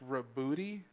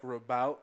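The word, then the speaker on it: Roboute: Apparently, it's pronounced Rabooty. I know some people say like Rabout or whatever, and Rabout would be a fine name. That's fine, but somehow I've heard that the actual pronunciation is Rabooty Gilliman, and that's fucking ridiculous.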